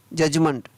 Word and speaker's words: judgement: BUDGET, बजट, बजट सुनते हैं हमेशा, तो उसकी स्पेलिंग होती है BUDGET, बजट, तो यहाँ पर D है वो साइलेंट। LODG, laws. JUDGE, जज। JUDGEMENT, जजमेंट, क्या पढ़ेंगे इसको, जजमेंट, तो यहाँ पर MENT है, उसको मंट पढ़ा गया है, और D है वो साइलेंट।